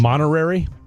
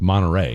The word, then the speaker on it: Monterey: Am I saying it wrong? Is it Monterey? No, it's Monterey. Monterey. Oh, what did I say? Monterary. You added an extra R.